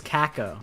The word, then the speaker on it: Kako: Is it like Keiko? Or like it was Kako. That's how her name's actually supposed to be pronounced.